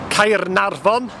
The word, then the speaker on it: Caernarfon: Harlech, Caernarfon, as it should be pronounced.